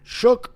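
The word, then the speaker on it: Shough: Oh, Tyler Shook. That's That's how you pronounce it, actually. Oh, really? Yeah. It's shook. It's not show.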